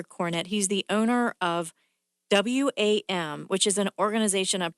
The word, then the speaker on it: WAM: It's WAM. What does WAM stand for? It stands for We Are More, but it's simply pronounced WAM.